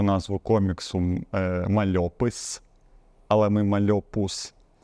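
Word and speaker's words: Mal'Opus: далі Це дуже весело це навпаки але правильно мальопус от мальобу саме от з таким наголосом тепер стосовно вашого Інстаграму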